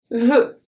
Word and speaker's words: veux: Veux. So this one is an open sound. Because we don't have anything after that comes and closes the sound, because the X is not pronounced.